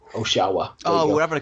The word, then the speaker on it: Oshawa: It's Oshawa. Oshawa. Oh, we were having a conversation beforehand about how you pronounced it.